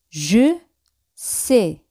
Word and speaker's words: je sais: Yo sé es je sais. Je sais. Ese al final siempre no se pronuncia.